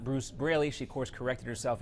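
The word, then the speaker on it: Braley: event a while back she kept getting his name wrong over and over again calling him Bruce Bailey not Bruce brayy she of course corrected herself and came back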